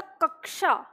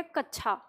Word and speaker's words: कक्षा: होता कक्षा ठीक है तो ये कक्षा श है ये ना कि छ तो इसका उच्चारण है क और ष लेकिन धीरे-धीरे धीरे धीरे क्या है कि जैसे हम उच्चारण नहीं कर पाते सही तो एक समय के बाद हमने इसका उच्चारण क्या कर लिया कच्छा कुछ लोग तो इसे कच्छा ही बोलते हैं ठीक है लेकिन